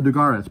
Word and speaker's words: Dugares: Did I pronounce his name correctly? Oh, Dugares, pardon me, Dugares.